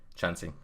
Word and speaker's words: Chansey: And welcome Chansey as well. I believe, am I pronouncing that right? The cat's Chansey. name? Chansey, cool.